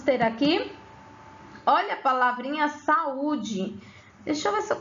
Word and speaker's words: saúde: Quando eu pronuncio saúde, saúde, você observa que esse U, ele não foi tão fraco, né?